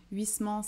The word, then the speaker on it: Huysmans: le prononcer à l'époque c'est un petit peu comme stendhal et stendhal huysmans et huysman bon moi je dis huysmans et jeux distincts dalle